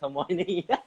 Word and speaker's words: Hermione: It's Hermione.